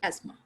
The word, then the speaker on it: asthma: any butter with soft curl to soften simply asthma christmas not christmas okay christmas simple christmas so